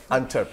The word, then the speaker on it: Antwerp: Pronúncelo bien. Antwerp.